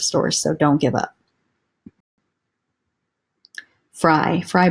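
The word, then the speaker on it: Frye: Fry boots, another good one. F-R-Y-E is how you spell it.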